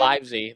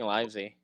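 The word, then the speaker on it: Livesey: Liv livy, how did he pronounce it again? Livesy. They keep saying livy.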